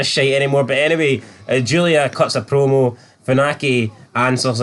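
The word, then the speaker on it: Giulia: involve the English alphabet Julia can't even do broken English Julia not gulia gulia Julia can't pronounce her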